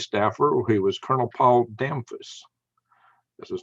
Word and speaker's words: Damphus: who was Colonel Paul Damphus. That's his name, Damphus. And if you saw his way it's spelled, you'd think it was damp house, but I pronounced it Damphus. I guess that's the French version.